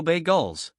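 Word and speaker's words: bagels: Bay Gulls. That's how you pronounce them, spelled BAGLS, Avinash said at the breakfast counter on 85 Broad Street, worldwide headquarters of Goldman Sachs.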